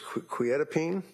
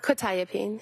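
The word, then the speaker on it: quetiapine: Probably mispronouncing this. Quietene. Uh quitapene.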